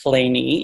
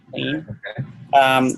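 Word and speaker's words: Kleene: And Claney, Stephen Cole Claney, which is pronounced Claney, even though it doesn't look like it should be. Looks like it should be Claney.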